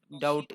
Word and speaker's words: doubt: The B in the doubt doubt देखो इसमें B silent है।